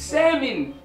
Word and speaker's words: salmon: salmon not salmon salmon no don't pronounce that it's salmon you got salmon color and you got salmon color this is salmon you do not announce the l yo here's a question